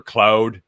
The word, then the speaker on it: Claude: There's the main GPTs, there's Chat GPT, there's Claude or Cloud, depending on if you're French or not. I know I'm not pronouncing it right. Claude.